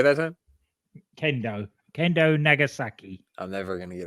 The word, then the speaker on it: Kendo Nagasaki: Kenzo Nagasaki. He can't be stopped. Did I say it right that time? Kendo Nagasaki.